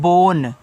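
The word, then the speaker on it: bone: बी ओ एन ई इसको पढ़ते हैं बोन। तो देखो बी से ब ओ से ओ की मात्रा बो एन से आपका ना लास्ट वाले इ का उच्चारण हम नहीं करते हैं।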